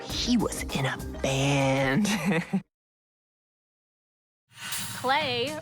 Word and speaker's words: Clay: Clay rhymes with play, so that's why we're gonna draw him in a fun pose.